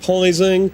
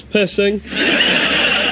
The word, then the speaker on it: Pising: So many people over the years have pronounced it Pising or Pizzing. It's not, it's Pissing.